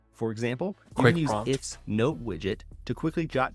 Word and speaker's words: IFTTT: Hey, it's Trip with IFT, and I want to pop in to show you. Now I know how to say it. If this and that, it's just called IFT.